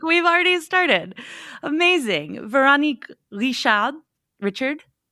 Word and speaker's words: Veronique Richard: But if I pronounce it in my accent, it would be Veronique Richard.